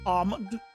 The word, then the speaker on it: almond: Almond versus almond. Oh yeah, there's some people that call it almond, but that that people are lazy to pronounce the L.